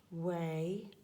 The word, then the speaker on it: weigh: Now we'll need both of these, so you can also see here, this is followed by silent letters, weigh, a G and an H.